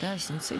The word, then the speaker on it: Осинцы: Определились уже с ударением. Осинцы все-таки. Осинцы.